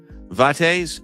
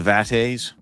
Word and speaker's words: vates: Vatees. So that's how we that's how we pronounce that. The vat. I guess that makes sense. the vates. V A Tes. So that's vate.